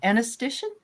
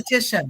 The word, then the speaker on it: esthetician: reader, and she was can you say it, anesthetician? No, How do you say? esthetician. No, Esthetician. esthetician. So sorry.